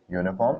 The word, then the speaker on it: uniform: u right uniform is pronounced as y u uniform it's not pronounced as uniform because otherwise that would be